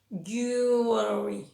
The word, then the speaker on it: jewelry: Y si la ponemos en una palabra más larga, pues sigue igual. La E y la W es una U larga y ya le ponemos todo detrás. Jewelry, jewelry.